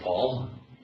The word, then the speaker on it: Pahl: How do you say your last name? Is it just like Paul?